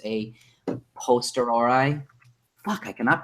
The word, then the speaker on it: a posteriori: I always say a post priori, but that's not true. It's a posteriori.